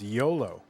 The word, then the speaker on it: Jolo: J O L O Jolo. Or if you pronounce uh the J like uh like a Y, then it's YOLO.